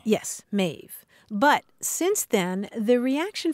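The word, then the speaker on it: Maeve: again and again that it's mave m AE V and it rhymes with wave but uh Grandma accidentally calls her mauve and you're constantly trying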